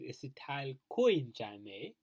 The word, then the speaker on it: acetyl CoA: to the acetyl CoA, or we pronounce this as acetyl coenzyme A, which is 2 carbon.